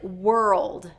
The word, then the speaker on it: world: So the first is wer-uld. Wer-uld. So we're gonna break this word into the 2 different syllables, wer and old.